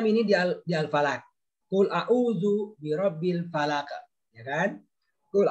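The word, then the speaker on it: أَعُوذُ: A'udzu, panjang ya.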